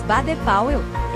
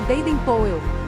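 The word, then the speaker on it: Baden-Powell: de fevereiro de 1857 em português pronunciamos b po em inglês se pronuncia Baden poel o pai dele era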